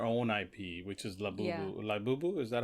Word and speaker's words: Labubu: Labubu is that how you pronounce it? Uh Labubu.